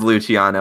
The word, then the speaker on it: Luciano: in a live stream I asked you what how you pronounced your name and you told me it was Luciano it is Luciano I said he just